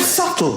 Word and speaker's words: subtle: The word subtle, would anybody object if it was spelt S-U-T-L-E?